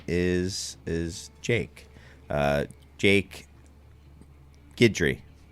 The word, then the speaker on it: Guidry: his actual name is is Jake uh Jake gidry correct Chris you got it again every time